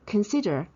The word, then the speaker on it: consider: So consider because o here is pronounced as a schwa so it's consider, and she asked us to pay attention to the E sound here. The S-I-D-E-R-I, E is a short vowel.